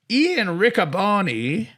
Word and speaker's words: Ian Riccaboni: We've got Private Party, Jamie Hayter, Mariah May, Ian Riccaboni. I think that's how you say your name, Ian. I'm sorry if I've butchered that.